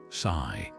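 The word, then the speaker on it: 死: Over time, this belief spread to other East Asian cultures, including Japan, where the number four pronounced she also echoes the word for death.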